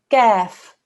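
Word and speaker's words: كاف: Here we have a kaf. Kaf is pronounced from a different place in the mouth. Your tongue touches the bridge of your mouth in the middle. Gaf. It's a thin sound.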